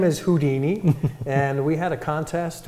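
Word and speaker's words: Whodini: And we thought this was very unique, because it's spelled W-H-O-D-I-N-I, kind of like the who of an owl, plus the Houdini.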